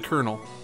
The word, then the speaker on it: colonel: Let's call him the Colonel. It's C-O-L-O-N-E-L. Yeah, it's like O-U. You want to spell it wrong?